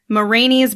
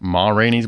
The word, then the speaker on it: Ma Rainey: the oscar went to mourinho's black bottom isn't it ma rainey's black bottom ma yeah did i say it wrong you just said it like a whole word oh my granny's like